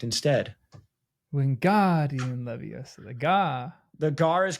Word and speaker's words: Leviosa: by telling him that he is not stressing the O properly in Leviosa. In the book, which syllable does she correct instead? Wingardium Leviosa.